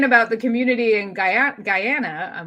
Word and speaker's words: Guyana: you were saying about the community in guy Guyana I'm like let me say it right um